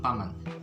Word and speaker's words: paman: okay i'll give you one tip on paman remember pac-man right pac-man get rid of the c okay it would be